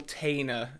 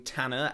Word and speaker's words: Tanner: I say Bill Tainer in some of these videos rather than Tanner. I've talked about this in another video. I don't quite know where that pronunciation came from. I don't quite know why I was calling him Bill Tainer rather than Tanner, as they say in the films, but anyway.